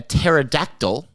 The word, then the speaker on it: pterodactyl: can't you hear a pterodactyl Is that how you say it? Yeah. Starts with a P, right? Yeah.